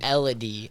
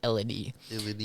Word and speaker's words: Elodie: Elodie. I completely butchered that. It's Elodie.